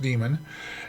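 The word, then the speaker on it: daemon: it's running the SMB demon here um it's spelled D a m o n it's pronounced demon and this is version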